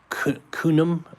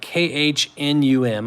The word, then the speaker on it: Khnum: And then you have Khnum, K-H-N-U-M, I'm probably not pronouncing it right, Khnum, guardian of the Nile.